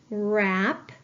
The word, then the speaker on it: wrap: like a ghost letter digraph WR I have wrist wrap Ren I need to underline my ghost letter digraph and cross out my ghost letter because it